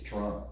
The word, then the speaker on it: Toronto: to run you know pronounced the second T it's Toronto yeah and you miss